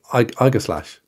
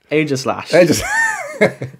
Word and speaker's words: Aegislash: Go and pronounce it. Igaslash. That thing? Igaslash. Aegislash.